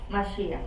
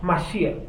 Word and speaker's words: Mashiach: ¿Cómo se dice la palabra ungido en hebreo? Mashiach. Mashiach.